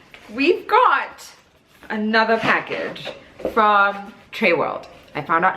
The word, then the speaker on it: Trewrld: And then we've got another package from Trewrld. I found out how to pronounce the name. It's Trewrld.